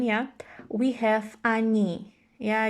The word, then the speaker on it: они: And here again, coming back to the pronunciation, yeah, we have они. Yeah, you see the E is stressed, so O is again pronounced as A.